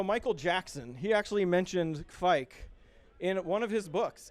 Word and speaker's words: Kveik: And the pronunciation is Kveik. Kveik.